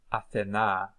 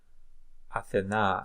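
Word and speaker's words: Ἀθηνᾶ: In Attic Greek, it was pronounced, it seems, as Athena. Athena.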